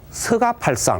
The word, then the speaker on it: 석가: 예 를 들어 , 석가 모니 부처 의 경우 " 석가 " 라고 쓰지만 보통 " 서 가 " 라고 발음 합니다 . 그래서 암송 할 때 도 " 석가 모니불 " 이라 고 하지 않고 보통 " 서가 모니불 " 이라 고 합니다 .